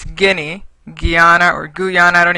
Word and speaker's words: Guinea: The congressman that kept saying Guyana as one of the countries. It's not Guyana, it's Guinea.